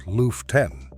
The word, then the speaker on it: Lüften: In Germany, there is a practice called Lüften, pronounced Lüften, and it translates to airing out.